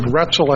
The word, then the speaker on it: Roetzel: the law firm of Roetzel and Andres that's our OEt ze l but it rhymes with pretzel Gretel and Andres on